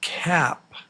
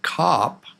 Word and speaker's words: cap: Yeah, it's not cop. Not cop, it's cap.